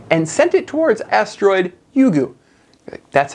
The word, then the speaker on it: Ryugu: december 3rd 2014 and sent it towards asteroid yugu that's how you pronounce it yugu now yugu is the japanese word for dragon